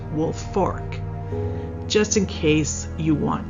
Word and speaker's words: Woolfolk: w l f o l k but is pronounced wolf Fork just in case you want to Google the